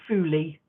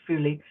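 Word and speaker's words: phuli: and these are called fully um but they're pronounced they're written p h u l i so but they're pronounced fully and then there's um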